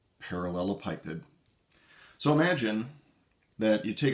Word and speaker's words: parallelepiped: difficult parts of this next concept is just pronouncing this damn word it's a parallelopipid parallelopipid parallelopipid so imagine that you take a bunch of